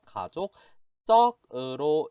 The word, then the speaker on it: 가족적: 이번에는 가족적이라는 단어가 있는데, 자, 이 가족적이라는 단어는, 이거 읽을 때 발음이 약간 달라요. 이렇게 읽어주셔야 돼요. 가족적으로 읽어주셔야 돼요. 이게 왜냐면은, 앞에 우리 족자의 발음이 발음이죠. 뒤에 즈 발음이랑 연결될 때 이 즈 발음이 즈로 바뀌어요. 그래서 가족적이라고 읽어주세요.